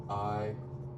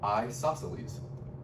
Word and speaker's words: isosceles: I say like isosceles. You say sa twice. Well, you say sa twice. But that's kind of how I remember it, is I just really pronounce it. I go isosceles.